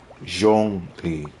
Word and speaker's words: Zhongli: I believe his name is pronounced Zhongli. Something specific about long-sounding O.